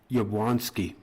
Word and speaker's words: Yablonski: So, how you pronounce the name is Yablonski.